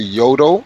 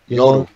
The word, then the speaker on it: Yoru: You say Yodo, Yoto, or Yoru? Yoru. Yeah. Yoru.